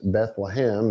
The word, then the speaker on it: Bethlehem: Beit Lechem is how it's actually pronounced. Bethlehem is what it became in English.